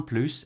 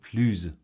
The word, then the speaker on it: plus: However, if the adjective or adverb starts with a vowel or H muet, silent H, then we make the liaison and so it becomes plus.